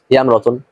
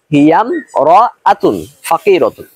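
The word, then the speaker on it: هي امرأة فقيرة: আমরা অনেকে এরকম বলে থাকি হিয়াম রতন, মানে হামজাটা উচ্চারণ করতেছি না, এটা একটা ভুল। আবার অনেকে এরকম বলে থাকি হিয়া ইম রতন ফাকিরাতুন, এটা আরো ভুল।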